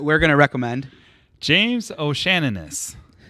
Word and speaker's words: O'Shaughnessy: James O'Shaughnessy. O'Shaughnessy. Yes. Shaughnessy, yes. It's a good save. Oh, man. Now say it in save. an Irish accent. Huh? Say it in an Irish accent. O'Shaughnessy.